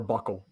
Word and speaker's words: buccal: The smart people in medicine would call it buccal. There you go. Others pronounce it a variety of ways.